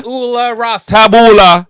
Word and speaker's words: tabula rasa: You're adding extra syllables. Tablu. Tabula rasa. Tabula rasa. That's it.